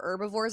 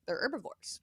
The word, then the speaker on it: herbivore: The H is silent.